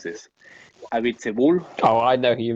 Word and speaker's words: Abiteboul: I always struggle to pronounce this. Abiteboul.